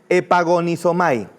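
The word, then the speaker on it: ἐπαγωνίζομαι: Su pronunciación es epagonisomay.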